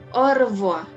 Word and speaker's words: au revoir: Au revoir. Artinya sampai bertemu kembali ya. Nah, kemudian ada à bientôt. Jadi huruf konsonan di akhir tidak dibunyikan ya. Kan yang ini R-nya juga nggak bunyi.